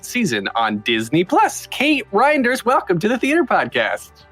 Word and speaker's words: Reinders: ask you I mean how did you really want to pronounce it when you read it reindeers yes I know right well that's great cuz then I have a whole holiday season um no reinder is reinders is Dutch and um I believe